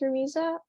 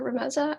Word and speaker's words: Ramiza: thank you um hi my name is ramiza or rameza I prefer both pronunciations but um this was I